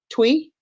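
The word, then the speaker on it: Twi: He Speaks his native tongue how do you pronounce it Jay twe yes his native tongue twe and has also picked up Spanish and Portuguese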